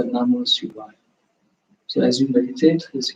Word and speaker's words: Namah Shivaya: Nam, Ma, Si, Va, Ya. Those are the 5 syllables. Again, Nam, first syllable is Nam, second syllable is Ma, third syllable is Si, fourth syllable is Va, and then fifth one is Ya. So Namah Shivaya.